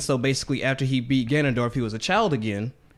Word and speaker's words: Ganondorf: after he actually beatss Ganondorf I that's the correct pronunciation gondorf after he beats him